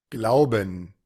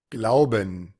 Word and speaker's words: Glauben: Casi siempre esas palabras que terminan con la EN, vamos a encontrar más de alguna pronunciación posible. Vamos a ver cuál es la que está grabada acá. Glauben, Glauben, Bueno, es la primera, ¿verdad? En donde se suena esto con un schwa y una N.